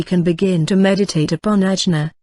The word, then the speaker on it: Ajna: Now we can begin to meditate upon Ajna, pronounced Agni as in agate, the so-called third eye.